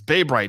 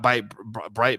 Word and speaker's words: Bay Bright: didn't say it wrong bay bright it's bay bright not by bright bay bay bright is